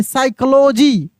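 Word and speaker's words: psychology: पे ये P silent है यहां पे क्या साइलेंट है पी साइल साइकोलॉजी क्या पढ़ेंगे साइकोलॉजी P silent special P वाला मैं क्लासेस करा दूंगा।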